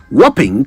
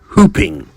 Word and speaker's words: whopping: Whopping comes from the word whop, which means to beat or overcome something large. So the word is whopping, not hooping.